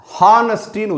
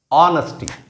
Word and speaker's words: honesty: ஹா கிடையாது, ஆனஸ்டி. நிறைய பேர் இந்த ஹெச் இருக்கிறனால என்ன பண்ணுவாங்க? ஹானஸ்டின்னு சொல்லுவாங்க. அது தவறு.